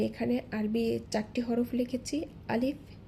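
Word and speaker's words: ألف: লক্ষ্য করুন যদি ভেঙে উচ্চারণ করি আ লিফ যখন আমি লিফ বলছি সেক্ষেত্রে সামনের উপরের দুই দাঁতের আগা নিচের ঠোঁটের পেটের সাথে লেগে হালকা একটু বাতাস জারি থাকবে অর্থাৎ চালু থাকবে আলিফ আলিফ লক্ষ করি এখানে হচ্ছে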